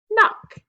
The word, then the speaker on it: knock: So ask yourself, which letter is silent here? It's the K. What's the word? Knock.